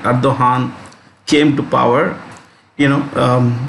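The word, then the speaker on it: Erdoğan: So it's always been anti-India, at least ever since the current president Recep Tayyip Erdogan, the G is silent, Erdogan came to power.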